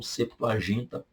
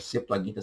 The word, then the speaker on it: Septuaginta: A ordem dos livros, entretanto, segue a da Vulgata e a da Septuaginta, ou Septuaginta. Fique à vontade para pronunciar como você quiser. Septuaginta, Septuaginta.